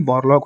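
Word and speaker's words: Borlaug: ये जो आपका एडबर्ग नहीं है, ये बोरलॉग होगा, ठीक है। यहाँ पे नाम का थोड़ा मिस स्पेलिंग है, क्वेश्चन पेपर में ही था, ठीक है, बट ये नॉमन बोरलॉग होगा।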